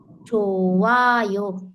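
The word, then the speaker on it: 좋아요: छोयो उ छोवायो भनेको हेर्नु न ह त छ तर ह बिना चाहिै नि शब्द त अशुद्ध हुन्छ तर यसको उच्चारण नै साइलेन्स भयो छ ह साइलेन्मा छोवा यो राम्रो छ राम्रो छ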